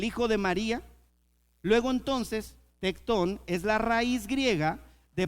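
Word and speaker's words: tekton: Y cuando lo traducen a latín, tradujeron la palabra original para definir el oficio de Jesús, que se escribe t e k t o n tectón.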